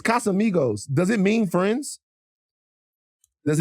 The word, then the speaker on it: Casamigos: It's Casamigos, but you were saying Casa Amigos. Casa Amigos. Hold on. It's Casamigos.